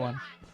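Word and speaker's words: eau: What is that one? Water. Water is eu, but it's called it's pronounced o.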